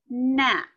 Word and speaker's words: gnat: So usually you're gonna see a K-N, like the word knee. G-N you might see like the word gnat, which is one of those little pesky bugs that flies in front of you. W-R, I could see it in wrist, maybe wrong. Those are all silent letters. That first letter, the K, the G, and the R.